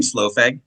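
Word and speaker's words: Slough: So, my number five was uh is it they pronounce their name slow?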